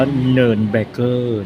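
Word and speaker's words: Nürnberger: แนว แบบ เนิ เบอร์เกอร์ เน อ่าน ว่า เนิน เบอร์เกอร์ เนิน นะ คะ เนิน เบอร์เกอร์ ัด วัว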